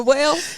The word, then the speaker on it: Wale: Y'all listen to Whale?